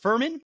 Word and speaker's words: Fuhrman: Is it Fuhrman? It is, yes.